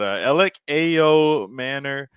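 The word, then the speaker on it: Elic Ayomanor: But Alec Ayo Manor is how I'm pronouncing it.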